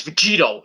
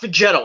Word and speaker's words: Vegito: called goku and vegeta it's vegito not vegetal it's vegito that's how you say it in japan it's great it's great